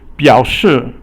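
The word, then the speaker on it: 表示: 表示表 is 三声, and then 是 is fourth tone.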